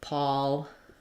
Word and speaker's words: Paul: For the we mostly have A when it's with an L, except for Paul, the name, and Paul, like a pall fell over them, have the same spelling. Not the same spelling, the same pronunciation.